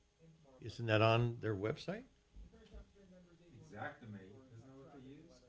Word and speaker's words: Xactimate: Yeah, it's not Exactimate. It is Actimate, but it's pronounced Xactimate.